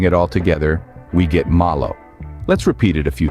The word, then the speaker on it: malo: in Spanish we say Malo diving right in let's break down the pronunciation of Malo the first syllable ma is pronounced much like the ma in Mama the a sound is